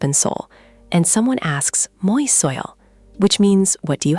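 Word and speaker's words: 뭐 있어요: Mwo isseoyo? Mwoisseoyo? Good try. Just smooth it out a bit more. The uh in mwo is short. Mwoisseoyo.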